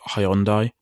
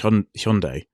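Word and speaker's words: Hyundai: their brand name so traditionally we've always called it hyi and I know in America they pronounce a bit weird and but I think it's supposed to be H Hundai that makes sense H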